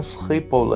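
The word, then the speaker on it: Schiphol: Airport का नाम स्कीपोल है, इसको यूँ प्रोनाउंस करते हैं।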